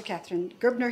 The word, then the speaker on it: Katharine Gerbner: We're very pleased to have Professor Katharine Gerbner here. Am I pronouncing that correctly?